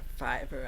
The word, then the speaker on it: Fiverr: getting a uh fiverr f-i-v-r-r fiber i think it's how it's pronounced freelancer to help with